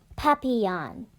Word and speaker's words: papillon: like our neighbor's dog you say it like this papillon in french it means